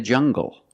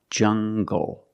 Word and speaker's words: jungle: These are pronounced with the hard g sound. Example, monkeys live in the jungle. Make the hard g sound, jungle. So you have the nasal sound and the hard g, jungle, go.